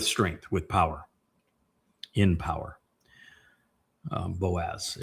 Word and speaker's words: Boaz: Boaz. It's actually Baaz, or Baoz would be the proper pronunciation if you were to look at the component parts.